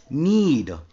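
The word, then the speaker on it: knead: नीड, गूंदना, आटा गूंदते हैं हम रोटी बनाने के पहले, और उस गूंदने की प्रक्रिया को हम नीड कहते हैं। रिमेंबर के साइलेंट डो, गूंथे हुए आटे को हम डो कहते हैं।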